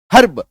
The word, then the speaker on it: herb: तो हर्ब में आपको नहीं करना है, क्यों, क्योंकि आर के बाद एक कॉन्सोनेंट साउंड है, तो रॉ का साइलेंट हो गया, हर्ब, इसका